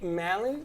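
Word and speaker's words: Mallon: disease mary malin was given what nickname mary malin you spell it you saying the last name correct m-a-l-l-o-n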